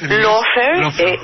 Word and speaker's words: lawfare: Lawfare, y se escribe L-A-W como ley, como law. Claro. Y fair, F-A-R-E.